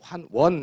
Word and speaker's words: 환원: 자 심어 께서 이제 환원 이라고 하지 않고 우리 잘 발음 잘못함 환원 이렇게 하게 되죠 그런데 환 원 이에요 한 번 시 뭐니